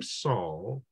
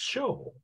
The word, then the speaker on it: Saul: The word Saul, the name Saul in Aramaic, if you were to say the same name in Greek, you would say it Paul. Actually, you know, it's not pronounced Saul. It's actually pronounced Shol.